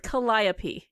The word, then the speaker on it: Calliope: It rhymes with Calliope.